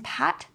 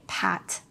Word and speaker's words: pat: These words might sound very similar, but the P in pat sounds slightly harder than the B in bat. When you say pat, some air will come out of your mouth. But when you say bat, this won't happen.